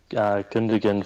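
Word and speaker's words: Gündoğan: and sign like city did today they've got Goggin digan from Dortmund yeah I said it right I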